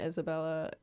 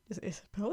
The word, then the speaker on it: Isabel: like, that Genevieve and Isabella, or is Isabella or Isabella? Hold on. Isabel. I've been saying it wrong this whole time.